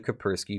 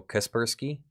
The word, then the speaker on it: Kaspersky: you go to the Caprice key virus lab for further analysis Oh Kaspersky thank you well I bet that's bothering some people Kaspersky that's is that is it the correct pronunciation thank you upon analysis